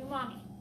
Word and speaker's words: umami: And the 5th one is called umami. U-M-A-M-I. That's how it's spelled.